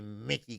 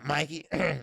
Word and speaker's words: Mikey: well agent broner say mickey clubhouse well pronounced mikey so he said mickey mickey mouse clubhouse well mikey garcia is looking for